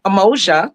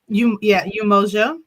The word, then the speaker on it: Umoja: So, Emoja, that's your business name also, right, Athenia? That is. And that was. Am I saying it right? Umoja.